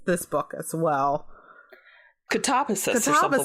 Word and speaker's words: Katabasis: apparently people told her no, it's Katabasis. So yeah, it's Greek, as producer Rob lets us know, and no, I refuse.